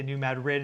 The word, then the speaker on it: New Madrid: So, and that's how the locals say it. Um so, don't get mad at me. That's I just go with cuz they get mad at me if I don't say New Madrid instead of New Madrid, so just whatever.